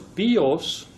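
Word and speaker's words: βιός: But he plays with the words bios. Bios with the accent on the O is a bow, but bios with the accent on the iota, the I, is life.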